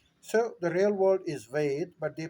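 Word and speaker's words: वेद: So when the British arrived, they had a tendency of putting an A as a suffix in all of our names, in all of our titles. Well, the real world is Ved, not Veda.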